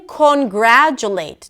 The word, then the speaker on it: congratulate: And this is because of the fact that the late at the end is a pure vowel. It's a secondary stress and it cannot be reduced to a schwa.